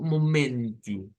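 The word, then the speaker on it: momento: Aquí encontramos una situación y es que vamos a comenzar a ver que las O, palabras que terminan con O en portugués se convierten en U. Siempre suenan a U.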